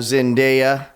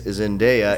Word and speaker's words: Zendaya: And so they've trained their eyes on the HBO Max Euphoria show, that great coming-of-age teenage show where you have Zendaya essentially going through the entire show, being high,